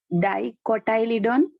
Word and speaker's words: dicotyledon: Dicotyledon and monocotyledon. See, आप लोग एक बात, प्रोनाउंसिएशन है ना, क्लियर रखना.